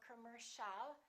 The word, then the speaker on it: commercial: a are both reduced so it's not calm or calm it's commercial don't say commercial or commercial it's all commercial all right let's practice